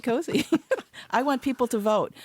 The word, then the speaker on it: koozie: Koozie is a brand name like Kleenex. because they the proper way to pronounce it. No, it's not. It's a koozie cozy.